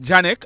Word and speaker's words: Janek: story a man name Janik Williams is it Janik or jck it's spelled j a n e k I'm going to call him Janik he was born on